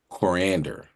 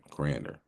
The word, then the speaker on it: coriander: The leaves and stems are called cilantro and the seeds are often referred to as corander. Saying it right, coriander.